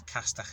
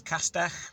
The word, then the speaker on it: Castell: The Welsh word is Castell Nedd. So Castell, it's obviously not a direct translation because Castell Nedd, the Castell bit means castle. So today's Welsh word of the day is Castell.